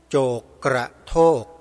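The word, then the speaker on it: โจกกระโทก: หา ใน YouTube ใน ชื่อ พระ ณ วัด โจก กระโทก สะกด ที ละ ตัว นะ ธนวัฒน์ สะกด อย่าง นี้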